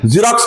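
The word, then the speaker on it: Xerox: जीरोक्स का spelling याद रखना है, एक्स से शुरू होता है।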